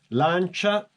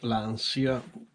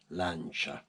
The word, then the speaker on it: Lancia: you say about this lancha not lania I know that in English they say lania but the right pronunciation is lancha in Italian is lancha stratus fantastic